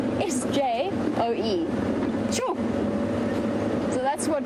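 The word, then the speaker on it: sjoe: Sure.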